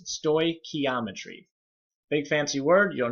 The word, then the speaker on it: stoichiometry: those one on this screen so please don't pronounce with any stores in the name it's stoy ke ometry big fancy word you don't know much about